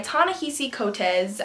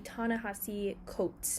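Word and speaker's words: Ta-Nehisi Coates: in with a correction it is actually tanahasi coats not cotez so yeah just know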